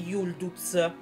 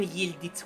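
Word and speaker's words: Yıldız: e poi comunque sia dovrebbe pronunciarsi Yuu non yit quella lì non è una i quella lì nella lingua turca si pronuncia come una u non vi sto prendendo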